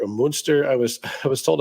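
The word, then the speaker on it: Münster: family his great-grandfather Clemens vaget uh hailed from monster moonster I was I was told how to pronounce that properly moonster Germany uh came to Indianapolis in 1851 and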